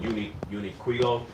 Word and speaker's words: Uniqlo: It's called Uniquilo. Uniquilo. It's spelled UNIQLO.